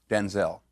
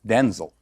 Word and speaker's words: Denzel: My name's not pronounced Denzel. My name's pronounced Denzel.